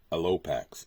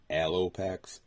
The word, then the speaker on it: Alopex: And we have the Rat King and Alopex, or Alopex. I've honestly heard it pronounced both ways, so take it however you want.